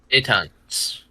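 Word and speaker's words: débutante: what Google has to say dayon day tant day tant yeah see you you you got it we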